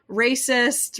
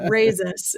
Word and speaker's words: Rayzis: us so uh your last name is pronounced raisis risus yes I've had people pronounce it many different ways uh racist razor uh yeah but it's I know it's terrible uh raises is the the correct pronunciation yeah well cool I'm